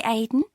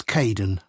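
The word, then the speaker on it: Kaeden: welcome to the team hi Aiden uh it's Kaden I'm so sorry don't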